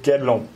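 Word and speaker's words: Guédelon: Juste la prononciation, c'est Guedelon.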